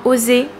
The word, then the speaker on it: Osé: Ça ne se prononce pas Ozzy mais bien Osé.